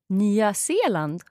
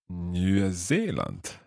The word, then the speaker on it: Nya Zeeland: But always pronounce it with an S.